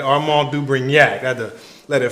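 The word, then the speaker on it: Armand de Brignac: You hear I pronounced that properly, right? Armand du Brignac.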